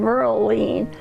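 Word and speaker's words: Merlene: My name is spelled M-E-R-L-E, same as his, but on the end of mine is an N-E, so I'm Merle-line, and his is Merle.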